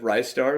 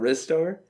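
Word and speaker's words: Ristar: Well, I'm just now finding out I've always mispronounced half of those titles. I always said Rystar instead of Rizstar.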